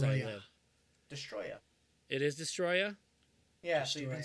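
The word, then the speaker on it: Destoroyah: Which I've been saying this guy's name wrong for as long as I live. Destroya. It is Destroya?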